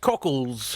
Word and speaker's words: Cokeliss: It's pronounced cockles. Cokeliss.